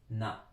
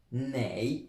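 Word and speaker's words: 哪: verrez, parce qu'en fait, celui-là se dit na ou nei, on peut dire ni shen nei, gojen, au lieu de dire ni shen na, gojen. Bon, le plus souvent, c'est na.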